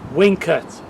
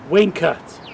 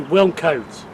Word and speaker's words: Wilnecote: YouTube and he says, I think the way you say it is Wilnecote. You say win and then cut. So you say Wilnecote. Even though some people say Wilnecote. So that's how you say it.